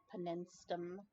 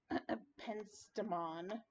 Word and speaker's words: penstemon: And then my red falling pimentum, pimentos, penistum, penstemon.